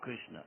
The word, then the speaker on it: Krishna: The first syllable is Krish.